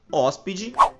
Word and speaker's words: hóspede: exemplo, nas palavras médico, hóspede, matemática, árbitro, clínico e hipopótamo. Percebam que nessas palavras nós pronunciamos a antepenúltima sílaba com mais intensidade, pois nós falamos da seguinte maneira. Médico, hóspede, matemática, árbitro, clínico, hipopótamo.